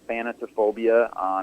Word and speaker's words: Thanatophobia: is a weird name and really hard to pronounce. But yeah, the track is Thanatophobia.